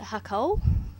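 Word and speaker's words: Jacó: was called hako hako it started with a j anyway but i think it pronounced as an h you know i only really know two uh languages english and french english being my main one so i think in spanish jay pronounces the h sometimes i'm not 100 sure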